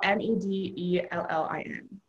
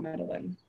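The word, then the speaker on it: Medellín: Medellin is spelled M-E-D-E-L-L-I-N, but it's not Medellin. It's Medellin.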